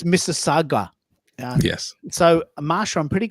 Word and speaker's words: Mississauga: The U is silent. So I think it's Mississauga.